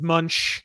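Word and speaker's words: Moench: heard he's a real mensch really is that is that how you pronounce it doug mensch well some people it's munch you know it depends how they decide if my name was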